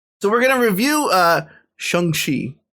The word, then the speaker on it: Shang-Chi: So we're going to review Shang-Chi. Sorry, Shang-Chi. That's actually the proper way to pronounce it.